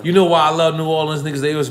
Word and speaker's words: New Orleans: In New Orleans. Am I saying it right? Past that same project. New Orleans. No, I've seen it spelled N-A-W-L-I-N-S. We don't say that shit.